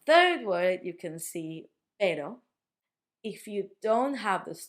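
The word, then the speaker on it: perro: You can see that in this case, we've got two Rs. That's because between vowels you can put two Rs and that makes the sound like. If you've got two vowels repeating, you put two Rs to make it sound strong.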